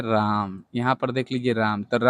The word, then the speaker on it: राम: राम, यहाँ पर देख लीजिए राम, तो राम में म आधा उच्चारण हो रहा है और रा तो पूरा है, तो देखिए ये तो रा हो गया, म में आधा उच्चारण है, ए का प्रयोग नहीं करेंगे।